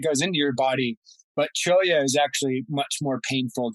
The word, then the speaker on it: cholla: Cocotel or that would be cholla. Cholla, there you go. Cholla, and that's spelled Cholla. So it has a Spanish pronunciation of the double L.